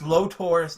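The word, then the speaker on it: Lotor: they can't pronounce Prince lo tours name you mean turn to loader they're calling him Prince loader I'm like who is Prince loader oh my god fridge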